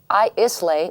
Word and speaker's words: Islay: Ardbeg is a single Islay malt Scotch whiskey. Yeah, you would pronounce it Islay.